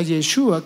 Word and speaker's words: Yeshua: Jesús en hebreo significa, se pronuncia Yeshua, que significa salvación.